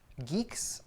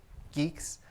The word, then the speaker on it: Guix: start with the pronunciation is pronounced geeks like the English word geeks I'm going to be